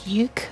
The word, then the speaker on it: Yook: say that correctly because there's the word you, which is like Yook, but But yeah, I thought she'd accidentally say a K sound at the end there.